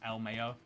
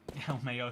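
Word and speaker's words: LMAO: I pronounce Lamau as El Mayo. Oh, you do want... So, yeah, I feel like then it would be E-L-M-A-Y-O. I wrote it. But yet you're pronouncing it. But yet you're spelling it L-M-A-O.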